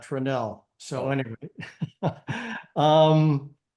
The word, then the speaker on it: Tranel: they're telling me that in Montana they pronounced that tranel so anyway um not